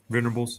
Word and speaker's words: Venables: Venables, yep.